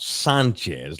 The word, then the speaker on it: Sanchez: there's a reason why he pronounces his name Sanchez and not Sanchez like it's supposed to be.